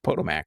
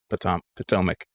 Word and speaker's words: Potomac: I always want to say Potomac because that's the way that it's like phonetically written out. So I'm like, oh, Potomac. No, that's Potomac. See, I almost said it again.